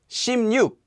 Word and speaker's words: 십육: 16, 십육. Note that 십육 is actually pronounced as 심뉵. This is an exception.